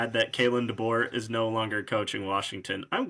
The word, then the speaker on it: Kalen DeBoer: So, how do you pronounce his name? Kalen DeBoer. Yeah, I said it right. Kalen DeBoer.